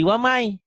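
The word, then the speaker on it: وَمَن يَبْتَغِ: Waman yabdagi itu. Waman yabdagi. Waman yabdagi. Ditulisnya waman yabdagi. Kenapa dibacanya jadi wamai? Kenapa? Karena itunya melebur. Melebur, pinter. Bunyi N-nya masuk ke Y.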